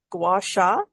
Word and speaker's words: gua sha: Correct me with the pronunciation: gua sha Yes, and correct.